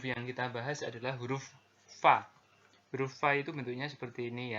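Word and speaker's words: ف: huruf fadv ini ya diucapkan dengan menyentuhkan ujungnya dua gigi seri kita bagian atas dengan bibir bawah bagian dalam simpelnya seperti kita mengucapkan huruf f dalam alfabet gitu ya Va seperti itu jadi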